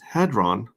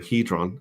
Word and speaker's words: Hedron: auction when people bid with hadron uh sorry hedron it's pronounced hedron uh when they bid